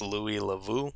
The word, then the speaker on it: Louis Le Vau: So the two YouTubers were Akkad Daily, and I believe this is pronounced Louis Lavu.